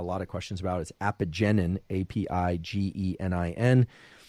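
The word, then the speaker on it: apigenin: i got a lot of questions about is apogenin i a-p-i-g-e-n-i-n epigenin if you look in the literature the way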